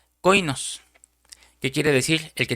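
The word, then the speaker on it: κοινός: Aquí se refirió el apóstol a Tito como un compañero y esa palabra compañero se deriva de otra palabra griega que se pronuncia coinos, que quiere decir el que tiene comunión conmigo.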